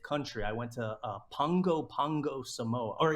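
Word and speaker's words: Pago Pago: hit my 75th country I went to uh Pongo Pongo Samoa or it's pronounced Pogo pop Pongo Pongo is how you pronounce it it's spelled pop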